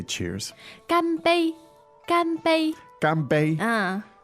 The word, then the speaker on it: 干杯: Ganbei, Ganbei. Ganbei. First tone, is that right? That's right. Ganbei.